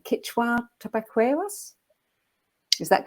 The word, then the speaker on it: Quechua: lineage of and i'm not sure if i'm pronouncing this correctly but uh i'm sure death david will correct me if it's wrong quechua tobacco us is that correct yeah okay yeah